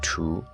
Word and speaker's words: 荼: Ancient Chinese had several terms for it, pronounced in modern standard Mandarin as tu, jia, shi, ming, and quan.